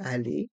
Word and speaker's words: aller: billet de train un aller simple un allé simple on fait la liaison avec le N de 1 et le a de aller un allé et les lettres e et R se prononcent e allz simple les lettres